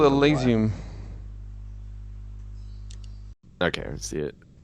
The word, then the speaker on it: Elysium: Some people pronounce it Elysium, some Elysium. I think Elysium is right.